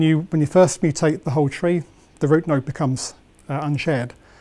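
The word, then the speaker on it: trie: And a tree, that's T-R-I-E in this case, is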